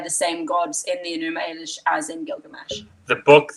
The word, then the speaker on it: Enuma Elish: Is that how you pronounce it? Enuma Elish.